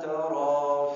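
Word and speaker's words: ترى: Harus bacanya ma tarao fi. Harus baca tara. Kalau tidak baca alif tara fi ini salah.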